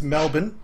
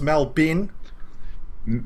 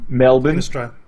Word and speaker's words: Melbourne: where that's roughly where here's melbour pronounced melbin melbin Mel that's it Steve your